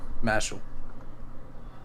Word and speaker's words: Mashle: Mashal. Mashal? Yeah. How you spell that?